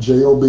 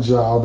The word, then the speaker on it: Job: Job, J-O-B, it looks like Job, but you pronounce it Job.